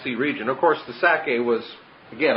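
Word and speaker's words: Sacae: region, of course the Sake was, again, I just picture the word Isaac, and Sake is S-A-C-A-E. It has the syllable of Sak, Isaac, or Itzhak right in it.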